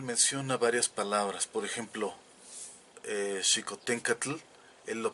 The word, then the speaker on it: Xicoténcatl: menos vemos claramente que el sonido de la l era muy clara en la pronunciación del náhuatl clásico porque hernán cortez lo